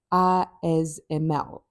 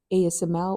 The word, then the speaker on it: ASML: to speak about is ISML. uh in South Africa we might pronounce it as ASML or in other parts of the world but in the Netherlands it's called ISML and it's one of